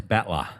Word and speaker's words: battler: There's no R's. Batla.